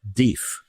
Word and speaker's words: death: here he's pronounced def right and it turns out that the pronunciation has changed over time. uh really kind of the main inflection point when we went from deaf to deaf happened sometime in the 18th century. But the def pronunciation hung on longer than that in shall we say rural areas and that would fit